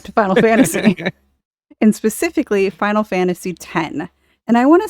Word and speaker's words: Final Fantasy X: debate on your show it is not Final Fantasy X no it is out of here it's not it's not Mega Man X it's ten ten and ten two those are the two